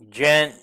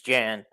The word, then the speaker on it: Jan: Well, and speaking of Danny, um Jen Jan, I said Jen, but it's Jan.